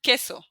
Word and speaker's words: que: Q, U, it's going to be the sound K. So like in que, which means what.